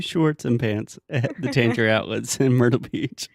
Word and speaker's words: Tanger: right because Tanger Outlets Danger Danger Danger Danger outlet outlet danger outlet okay can I give you a quick correction Tanger Outlets that's almost like you're saying danger except Angier danger yes